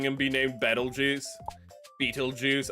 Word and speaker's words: Beetlejuice: I keep I keep saying Bettle Juice cuz they say it cuz how people pronounce uh Petal Juice um when it has a P is they go like Petal Juice, you know, like it's as in like a flower petal.